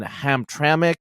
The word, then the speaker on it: Hamtramck: And, in Hamtramck, I think that's the way you pronounce it.